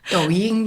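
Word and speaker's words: Douyin: China but there is an equivalent called doin did I pronounce that correctly doing yeah doing okay bite dance owns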